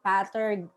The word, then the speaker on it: pater: Pater. Pater. Because we use the Latin word pater.